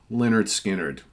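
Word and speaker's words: Lynyrd Skynyrd: for MCA yes they were at the time pronounced Leonard skinnard that's right debut album from one of Southern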